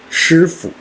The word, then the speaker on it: 师傅: 请大家看我的口型，跟我一起读一遍：师傅。